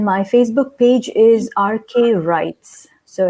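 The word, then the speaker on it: Rites: facebook page is rk rights so it's rk space r-i-t-e-s i'm a bit of a rebel um i thought well we don't pronounce the w why should i even write it so i said okay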